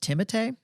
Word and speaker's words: Timothée: Apparently, it's pronounced Timothée.